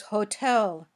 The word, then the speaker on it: hotel: The next word is hotel. Hotel. Which sound did you hear? Yes, it was the puffy t because the syllable after t is stressed.